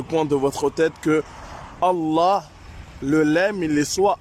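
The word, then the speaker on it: الله: Mais quand tu dis Allah, normalement tu dois être lourd dans le lemme. Billahi. Attention, la voyelle de Allah, il doit être long. D'accord? Après la shadda qu'il doit y avoir pour le lemme, c'est-à-dire passer un peu de temps parce qu'il y a deux lemmes, d'accord, dans Allah.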